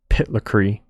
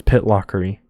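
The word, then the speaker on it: Pitlochry: different country and then this town was called pitlockery um it looks like it's pronounced pitlacree but it's pitlockery here's a river um any water it's pretty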